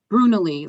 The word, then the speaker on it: Brunalee: Brunalee, like a brew, like a beer, Nalee.